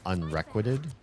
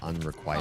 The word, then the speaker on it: unrequited: I used to say um what's the word? Um unrequited instead of unrequited. Unrequited. Yeah, cuz it looks like requisition or or something like that.